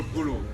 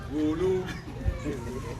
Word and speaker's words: Gulu: What some of you call Gulu. The right pronunciation, I'm told, is Gulu.